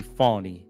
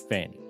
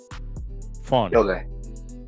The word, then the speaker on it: Fani: her name correctly cuz her name is actually fony not Fanny fonny Willis so I'm I'm